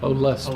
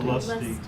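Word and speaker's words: Olustee: Am I pronouncing that correctly? Olusty. Olusty.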